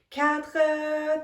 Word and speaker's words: quatre: Quatre, think about the pronunciation like cat and r.